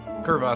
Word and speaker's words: Churvas: Curvas, but spelled with CH.